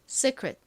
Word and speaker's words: secret: 정확한 발음은 secret secret인데요. 끝부분을 secret이라고 발음을 하나이를이 발음을 읽어서 secret secret 이렇게 발음을 하나 뭐 큰 차이가 나지 않습니다.